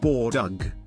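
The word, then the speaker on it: Боодог: as Big to make big pronounced Bor dug the butcher cuts the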